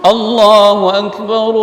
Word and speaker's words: Allahu akbar: karena wa wakaf tapi kalau kita baca langsung allahuakbar okeh Iyalah wakaf biroh boleh di seperti kalimat